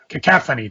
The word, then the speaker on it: cacophony: Me and my pronunciations. Cacophony. Cacophony. It's Cacophony.